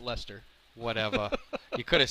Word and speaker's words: Leicester: team that kind of light Chester yes oh that's pronounced Lester whatever he could have